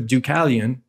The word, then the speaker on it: Deucalion: And he's in Sanskrit, that would be Deva Kala Yavana, but pronounced Deucalion. So for those who've never heard of Deucalion, I'll spell it for you.